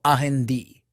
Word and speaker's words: Andy: Sin embargo, Fuko le da el nombre de Andy, pronunciado Ahendi.